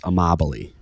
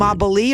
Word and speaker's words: Amabile: But how do you pronounce your last name? It's Italian, and in Italy it means love, but it's amabile.